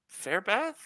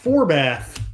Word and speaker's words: Forbath: Kai Fairbath? Oh, Forbath. Forbath.